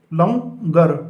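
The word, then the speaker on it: لنگر: अब आप इसकी हिज्जे करिए, लाफ लाम नून का शोशा गाफ रे लंगर। तो इस तरह से ये लंगर हमारा लिखा गया।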